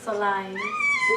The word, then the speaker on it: Solange: Solange. How is SOLANGE.